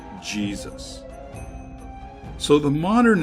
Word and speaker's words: Jesus: around 1500 AD that the letter J took on the J sound we are familiar with today so yay Seuss came to be pronounced Jesus so the modern name